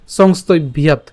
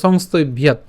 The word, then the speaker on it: সংস্তভ্য: তাহলে আমরা যদি একসাথে উচ্চারণ করি সংস্তভ্যাৎ, ঠিক আছে, সংস্তভ্যাৎ।